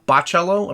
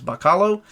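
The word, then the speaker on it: Bachalo: this week joe kelly chris boccello apparently that's the way you pronounce his name i always thought it was bakalo uh but collecting non-stop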